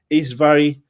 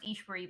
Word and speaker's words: Ishwari: And so we do have a truly extraordinary guest, Isvari, correct? Yeah, yes. My first name's pronounced Ishwari, but I genuinely go by